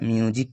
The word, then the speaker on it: music: যেমন দেখো এখানে MUSIC, এখানে আই এবং ইউর মাঝখানে এস রয়েছে, তাই এখানে এসটির উচ্চারণ হবে জ, এর উচ্চারণ হবে মিউজিক। কি হবে উচ্চারণ? মিউজিক।